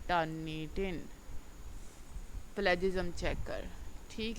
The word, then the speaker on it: Turnitin: ये टर्निटिन है, वैसे इसकी सही जो प्रोनाउंसिएशन है वो टर्निटिन ही है, लेकिन वो टर्निशन टर्निशन मेरी ज़ुबान पे चढ़ा हुआ है, तो मैं आगे भी यही कहती रहती हूँ।